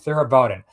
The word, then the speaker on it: Theravada: Okay, Theravada.